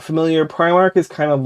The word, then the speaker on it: Primark: I think it's technically Primark you said Primark in the video though which is what we call Philadelphia we call it prar listen everyone pronounces it differently but I think technically it's Primark so Primark is really